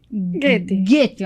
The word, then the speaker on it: Goettner: E hoje com a Goettner, pronunciei certo? Goethe, ó.